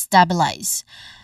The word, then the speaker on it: stabilize: Let's stabilize. When it comes to pronunciation, there's three syllables.